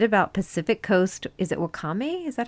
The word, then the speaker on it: wakame: Is it Wakame? Is that how you say it? Oh, yes, the Wakame.